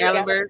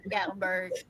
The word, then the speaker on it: Gatlinburg: Still in Tennessee, but it's in how you pronounce it? Gat Gaitlinburg. Gatlinburg. Gatlinburg.